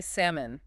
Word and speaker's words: salmon: And you really want to say salmon with the L. But again, dangerous pronunciation. That L is completely silent. It's salmon. Salmon. Just two syllables. Salmon. The L is gone.